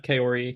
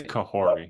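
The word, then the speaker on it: Kahhori: again like you said have Kori be the are we pronouncing am I pronouncing it's kahori kahori my bad okay uh okay just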